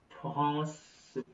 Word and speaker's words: France: La France. इट्स नॉट ला फ्रांस, इट्स आ plus n becomes nasal with a vowel. Okay, so Mm-hmm. nasal no sound. France, France.